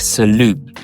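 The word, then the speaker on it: Салют: end because it comes from the French word salute right but in Russian we pronounce everything uh pretty much and uh for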